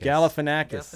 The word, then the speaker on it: Galifianakis: come up with it exact how do you pronounce that last name telekinetic gellick calif enact Galifianakis okay yeah I'll take out got it first